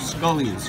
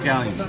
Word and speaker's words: scallions: chocolate or scallions and my grandmother used to call them scullions for some reason pronounced scallions that's okay scullions well